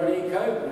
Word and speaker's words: Necho: So Pharaoh Necho, which was the Pharaoh at the time, there's all these different pharaohs, N-E-C-O, that was his name, Necho, Pharaoh Necho, it rhymes.